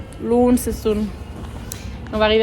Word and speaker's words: Launceston: Je sais pas comment ça se dit, ça se prononce comment? Launceston. Launceston.